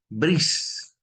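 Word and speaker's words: Bresse: Hay un señor que se llama Brice. Se escribe Breese.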